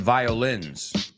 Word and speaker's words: violins: Listen to the difference. I don't like violence. I love violins. Otra vez. I don't like violence. La O no la pronuncio. Violence. I do like violins. O sea, la O se pronuncia, hay diferentes tres y no es el mismo.